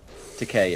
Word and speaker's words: Takei: Takei, it rhymes with toupee. Takei, whatever.